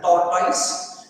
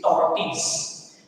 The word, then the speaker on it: tortoise: Don't pronounce it as a tortoise, it is tortoise.